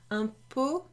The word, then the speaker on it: pot: Now this pot, a bit like paquet, you don't pronounce the T at the end, okay?